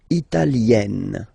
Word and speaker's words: italienne: L'Italie, italien, italienne. Remember, when you get this E followed by a double consonant like here, then you will have to open it.